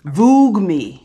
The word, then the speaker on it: Voogueme: Voogueme. I guess that's how you say it. Vogue, V-O-O-G-U-E, me. It kind of wants to be Vogue, but it's kind of not.